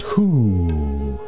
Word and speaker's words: Hu: the Hindu ohm chant it's traditionally pronounced who by the Sufi mystics of Islam it's a holy name